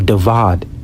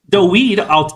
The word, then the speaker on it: David: when you say David's name all together, that's why you hear like some Jewish people pronounce David's name Dawid or Davad.